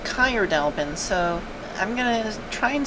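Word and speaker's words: Caer Dallben: Okay, I looked it up real quick and it seems to be pronounced Kyrdalbin, so I'm gonna try and start referring to it as that.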